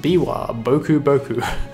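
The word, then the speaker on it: Biwa Bokuboku: This is the Biwa Boku Boku, pronounced Biwa Boku Boku, a yokai taking the form of a monk playing a biwa lute.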